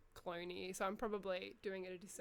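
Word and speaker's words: Cloonee: up there it's like it's c l o o n e e so I think it's even pronounced like cloney so I'm probably doing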